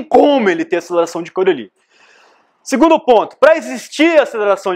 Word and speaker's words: Coriolis: Esse termo é conhecido como aceleração de Coriolis, tá? Você não pronuncia o S no final.